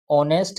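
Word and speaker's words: honest: Sonia is dash ऑनेस्ट girl. Sonia is dash ऑनेस्ट girl. ये important है। क्यों? क्योंकि इसमें एच क्या है? साइलेंट है।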